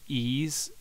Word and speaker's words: Ys: I bought uh um ease or the title is why is like the letter Y but it's actually pronounced ease and oh man what